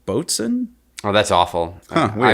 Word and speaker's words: boatswain: and this actually says the pronunciation is not boatswain it's like boats n' oh that's awful huh